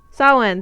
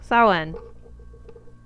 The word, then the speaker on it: Samhain: I forgot how to pronounce it. Yeah, that one. That one, Hope. Samhain, thank you. Samhain.